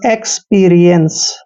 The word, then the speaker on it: experience: अब देखिए सीई को हमेशा हम से पढ़ते हैं यानी एक्सपीरियंस।